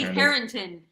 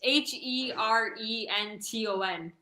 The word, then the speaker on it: Herenton: Oh, it's Willie Harrington. It's Herenton.